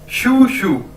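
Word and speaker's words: 叔叔: ये शू शू, शू शू, शू शू।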